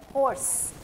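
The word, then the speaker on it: horse: सो क्या साउंड है होर्स एस पे ही एंड हो रही है आवाज ई की साउंड नहीं आ रही है क्य ई साइलेंट है यहां पर so this word is हॉर्स हॉर्स okay H ओ आर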